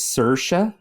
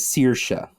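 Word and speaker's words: Saoirse: were very close it's she pronounces hers as sercia but you can also pronounce it you can also pronounce it as sirsha I I prefer it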